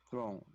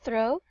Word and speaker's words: throne: Throne. Throne. Throne. You should emphasize the last letter of the word, not throw, but throne.